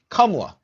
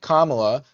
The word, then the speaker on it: Kamala: the issue is that the name is actually Kamla, right? Meaning lotus. That's the exact meaning of that word. So it's not Kamala.